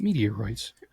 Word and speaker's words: meteoroids: of the meteorites meteoroids how do you say meteoroids yeah like hemorrhoids but meteoroids both not a good